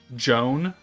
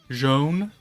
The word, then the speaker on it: Jaune: Pronounce it Joan with a light O. Joan.